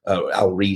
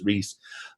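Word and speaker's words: Ries: Jack trout and alrise Al ree is how he pronounce it I interviewed his daughter the other day and she told me it was Reese um but think about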